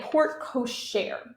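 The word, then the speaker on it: porte-cochère: And this is actually known as a portechere. It's spelled in a French way, so the pronunciation can be a little confusing. That's called a portechere.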